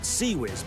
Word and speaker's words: CIWS: The Phalanx, designated CIWS, pronounced CWIS by every sailor who has ever stood next to one firing, is a 20mm M61A1